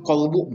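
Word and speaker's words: قلب: Padahal yang maksud kolbu mungkin ya. Itu beda pengucapan, beda arti juga. Kalau kolbu itu pakai kop, itu adalah hati. Tapi kalau kalbu pakai kap itu gogong gitu Pak.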